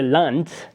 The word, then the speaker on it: Land: kunst is Art De Land pronounced with the T sound at the End by the way rather than the land as an American English it's Delante is country the muta